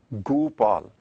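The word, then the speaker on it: ਗੋਪਾਲ: But here, Guru Maharaj has intentionally put Onkar underneath Gaga. So pronunciation is Gopal.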